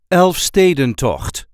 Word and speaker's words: Elfstedentocht: a regular Dutch accent elf staden to the very rare but exhilarating outdoor skating event this is how we say Elfen to elf Sten to there is a light emphasis on the second syllable elf St elf St